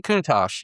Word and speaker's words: Countach: The the Lamborgh Lamborghini Countach I cannot pronounce it. Maybe you can pronounce the the quarter cord. I'll figure it out. Lamborghini Countach.